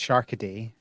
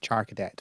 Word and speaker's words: Charcadet: I think that I'm going to say I think it's pronounced Sharkaday rather than Charcadet, but we'll see.